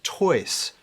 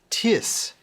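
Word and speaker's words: τοῖς: tone the masculine plural dative is toys or tiss in modern greek the masculine plural accusative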